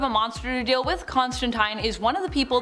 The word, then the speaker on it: Constantine: I'm saying Constantine wrong, I am saying it the way Neil Gaiman says it, and he's taking the pronunciation from Alan Moore himself, one of the creators of John Constantine. So I'm gonna say it that way. But if you say teen, that's cool too. Say it however you want.